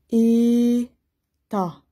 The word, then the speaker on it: État: On ne prononce pas le T. État.